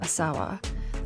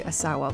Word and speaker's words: Asawa: surname Asawa Asawa and I'm going to try and stick to Asawa because when I've watched several videos of Contemporary Art historians discussing her Asawa seems to be the more common pronounced anunciation um but basically say